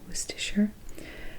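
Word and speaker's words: Worcestershire: since 1837 and its worst assure sauce I know it doesn't look like it's pronounced was too sure W hard CES trs-80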